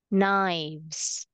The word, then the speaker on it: knives: is it oh yeah this one silent k knives like that okay so here let's